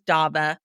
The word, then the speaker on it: Davah: thing which is hi my name is daba it rhymes with Loba there you go that's